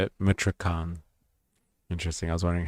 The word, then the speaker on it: Michoacán: Protesters say they want concrete measures now to That's how you say it, Michoacán. Interesting. I was wondering how to pronounce that.